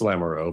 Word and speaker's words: Lamoureux: Is it Lamoureux or Lamoureux? It's Lamoureux, but it's accept that people mispronounce it.